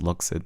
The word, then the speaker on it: Luxid: But then it's pronounced Luxid because I spelled it with the X.